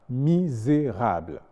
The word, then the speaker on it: misérable: mécanisme et non mécanisme le S se prononce Z lorsqu'il est entouré de voyelle ce qui fait qu'on dira misérable le s est prononcé Z parce qu'il est entouré par exemple de I et de E et on a déshérité